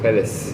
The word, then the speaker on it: Pelles: We're joined by my co-host, Daniel, and today's guest, Pelles. Am I pronouncing that correct? Pelles, yeah.